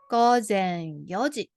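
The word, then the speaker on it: 四時: in Japanese is golden so you can say Yoji so young changed pronunciations another way you can also say Isa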